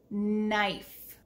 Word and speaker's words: knife: jelly with a knife notice that the k is silent can you say this word with me knife put the top piece